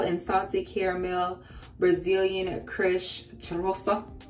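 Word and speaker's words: Cheirosa: And this is pistachio and salted caramel Brazilian crush charosa. I don't know how to say the name. C-H-E-I-R-O-S-A, charosa. I know you're supposed to roll the R's.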